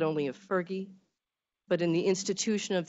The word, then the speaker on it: PHRGE: h r g e which we lovingly pronounce fergie it is a true